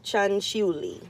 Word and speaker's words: Cianciulli: or not I did figure out how to pronounce this chick's name so you're listening to part two of Leonardo chanchuli actually and I actually have this information before